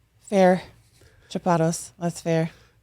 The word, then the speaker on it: Chapados: Chapados. That's fair. I don't even pronounce it right. Chapados is like in French and then Chapados is whatever I made up in English, I guess.